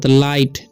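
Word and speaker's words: light: आई को हो जाएगा आई ठीक है जी साइलेंट है टी से लाइट ठीक है उसी तरीके से एस आई जी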